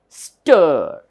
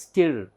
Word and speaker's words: stir: this letter is I we don't pronounce this as still no because I I symbol represents e sound but here this spelling should not be pronounced as still it is Stir so this is learn